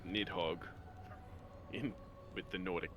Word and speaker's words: Nidhogg: Nizheg is certainly one hell of a pronunciation of Nidhogg.